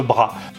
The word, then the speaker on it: Bras: Après, c'est vrai que plus on monte dans le nord de la France et de l'Europe, on prononce davantage Bras.